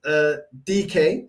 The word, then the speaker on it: Dyke: Man like Dyke, you know. Pronounced DK. Okay, DK. Thank you for the correction.